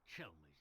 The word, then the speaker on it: Chelmey: Well, Inspector Chelmey's the name. Chelmy, I've been saying his name wrong the entire time.